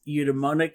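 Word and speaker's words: eudaimonic: of Happiness uh is a little harder to pronounce it's eudemonic happiness it's e-u-d-a-i-m-o-n-i-c and it it's not so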